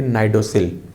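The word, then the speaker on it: cnidocil: इसे नाइडोसिल बोलते हैं। यहाँ पे सी साइलेंट होगा इसलिए उसको बोलेंगे नाइडोसिल। ये जो सेल है ये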